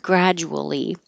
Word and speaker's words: gradually: Really, the DU makes a J. But when you're moving your lips and you gradual and you make them small for the W that you don't see in the word gradual, the J gets squished and you let airflow go over your tongue and it will sound like a J.